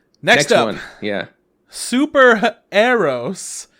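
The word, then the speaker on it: Super HxEros: right next one yeah super arrows that's how they were pronouncing it an anime expo it's superheroes with an x before the e uh made by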